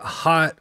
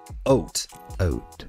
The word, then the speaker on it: Haute: Nope, not hot, Hoyt, or any of the things. It's actually pronounced Haute.